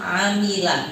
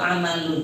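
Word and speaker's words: عَمِلَ: Dalam pembacaan dengan kasra pada mim, "amila," bukan "amalun, " tetapi "amila." Dengan membacanya dengan kasra pada mim, "amila," maka itu adalah sebuah kata kerja .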